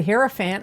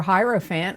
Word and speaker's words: hierophant: in your reading is the herophant or hierophant however you want to pronounce it and this is god